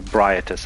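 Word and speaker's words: Ebrietas: I don't really need the Augur Vibriatus, but or Briatus, actually, that's the way they pronounce it in game, at least in the deleted content.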